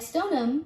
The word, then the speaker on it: Stoneham: as billerica this one it's not the combination of the stone and ham you think unfortunately you cannot find either of them new englanders actually say it as stoneham like stoneham which you drop the h sound this one is pronounced